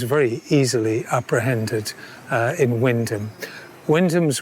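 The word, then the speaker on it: Wymondham: easily apprehended uh in Windom. Windham's one of those Norfolk words which um is spelled differently to the way it sounds.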